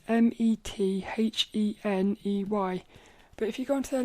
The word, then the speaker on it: Metheney: You spell it, it's Brynn, and then it's Metheney.